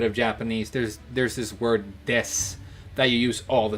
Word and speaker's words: desu: But it's spelled D-E-S-U, and you can pronounce, or it's spelled de-su, and you can pronounce the U if you want to. You usually don't.